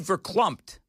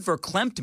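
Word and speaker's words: verklempt: Well, you said verumpt and I didn't know what that meant. I know what verclempt means.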